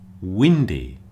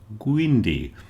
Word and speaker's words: windy: In words like whiskey and windy, it might be very tempted for you to say something like gisy and gwindi with a little g sound at the beginning. So that's something to look out for. Don't put a little g at the beginning. It begins with a w.